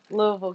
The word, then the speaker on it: Louisville: a lot of people like you don't hear the I at all.